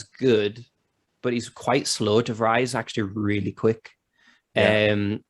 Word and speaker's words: De Vrij: Is that how you pronounce his name? De Vrij? De Vrij, yeah.